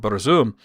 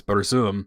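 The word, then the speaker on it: Burzum: terrible band but there's one called Berum which they pronounce it differently but it's Boom which is the uh black speech uh for um darkness.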